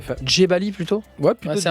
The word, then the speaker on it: Djebali: Dzebali, ça se prononce comme ça? Ouais, Dzebali, ouais, tout à fait. Dzebali plutôt? Ouais, plutôt. Ouais, c'est un Dzebali, J, toi. Ouais, c'est un J.